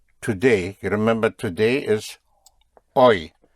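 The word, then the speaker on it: hoy: You remember today is oi.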